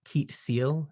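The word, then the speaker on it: Keet Seel: Is it Keet Seal? Is that how it's pronounced? It is Keet Seal, yeah.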